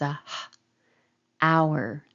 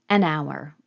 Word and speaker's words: hour: a consonant a horse this has a letter H but I don't pronounce that as a hour hour my mouth is open like a vowel ow ow an hour rather than a hour